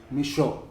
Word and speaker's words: Michot: We're here with Michele Michot. Sí. Did I say that correctly? Yes, you did. The T is silent?